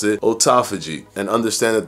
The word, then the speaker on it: autophagy: when it comes to autophagy for example some people pronounce it autophagy other people pronounce it autophagy and understand that the word autophagy is two words put together it's Auto and phagy when separated yes feiji